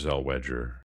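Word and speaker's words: Zellweger: the Renee Zelwagger's Wedgers I think it's pronounced Zel Wedger.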